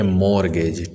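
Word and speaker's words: mortgage: इस वर्ड का प्रोनाउंसिएशन है मॉर्गेज। टी जो लेटर है ये साइलेंट है।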